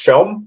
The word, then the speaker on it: Som: at the end and it's pronounced showm um but otherwise uh